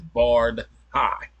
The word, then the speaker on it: Bardhi: on how it's pronounced from my understanding is barred High you know what I'm